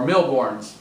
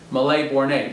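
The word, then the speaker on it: Mille Bornes: He came over and we played Malais Bornay, or Milborns, as we call it, but it was a French game, so I think it's Malais Bornay.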